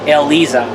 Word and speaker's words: Eliza: that I noticed how the Tekken 7 announcer pronounces her name ELISA yeah so with that